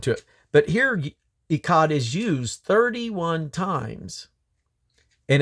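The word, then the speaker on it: אחד: It's got more of a throat clearing sound at the end. Echad. It almost like you're clearing your throat.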